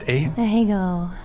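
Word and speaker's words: Ahegao: What is the, how's it pronounced? Ahego.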